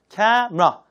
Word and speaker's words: camera: 자, 카메라 발음도 우리가 카메라 그러는데 실제 이게 3음절처럼 보이지만 이 중간 음절은 없어요. 그래서 camera 이렇게 이음절처럼 발음하세요. 그게 정확합니다.